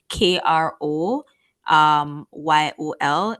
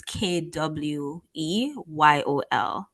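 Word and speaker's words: Kwéyòl: They don't use R's in Dominican Creole and St. Lucian Creole. So when they're spelling like the word Creole, it's spelled with a W. So instead of KRO YOL, it's KWEYOL.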